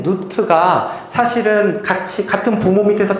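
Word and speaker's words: Nut: 자, 이거는 너트라고 읽는게 아니라 누트라고 읽습니다. 누트.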